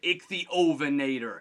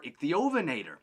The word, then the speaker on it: Ichthyovenator: Now, I've seen this name pronounced a few different ways, but I really like to say the Ichthyovenator.